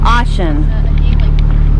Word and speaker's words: Oshan: Is it Oshan? Oshan. Okay. Oshan. I've been saying it wrong.